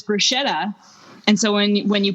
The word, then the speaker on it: bruschetta: when when you put when you write the word on the board and they say yeah it's bruschetta and you're like actually and then you blow their minds a little bit because CH in Italian is always